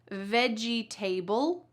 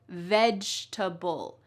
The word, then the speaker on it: vegetable: This word also has the word table in it. So, do we say vegetable? Nope. Instead, we say vegetable.